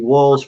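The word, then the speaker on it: Wahls: The thing that I talk about quite often is the Walls Protocol, and Walls is spelled W-A-H-L-S.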